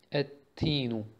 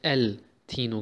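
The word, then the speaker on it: التين: Wie zum Beispiel hier, Ettinu, Ettinu. Okay? Hier haben wir den L nicht ausgesprochen. Wir haben nicht El Tino gesagt, sondern Ettinu. Und haben den T verdoppelt.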